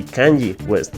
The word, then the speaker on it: Kanye West: bipolaridad de Kanye West, que por cierto quiere decir, se pronuncia así, Kanye West.